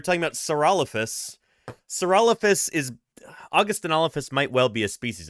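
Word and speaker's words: Augustynolophus: So you put it all together, it's Augustinophus Morrissey.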